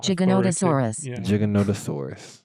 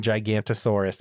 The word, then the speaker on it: Giganotosaurus: Giganotosaurus. Giganotosaurus. And that's what they all say. They're not saying Gigantosaurus in the movie. They're all saying Giganotosaurus.